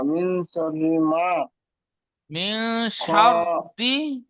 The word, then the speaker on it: شر: মিন শাররি, রটা টান হবে না, রসের রি।